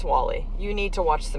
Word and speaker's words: WALL-E: wall-e by the way so it's spelled wal L - E it's a Pixar movie from several years ago about a little robot whose name is Wally you need to watch